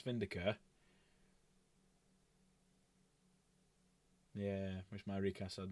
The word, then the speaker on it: Vindicare: Or Vindicari, depending on how you want to pronounce it. I call it Vindicare.